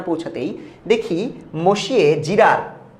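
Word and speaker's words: monsieur: পৌঁছাতে না পৌঁছাতেই দেখি মসিয়ে জিরার, ওদেরকে বলা হয় মসিয়ে, আমরা বলি মসিউ, বজু মসিউ এভাবে বলতাম।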